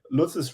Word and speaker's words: Lutz: Lutz?